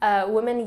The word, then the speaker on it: women: in the first example the candidate pronounces women usually and early incorrectly English learners typically mispronounced these words because like many English words they aren't spelled the way they sound we will look at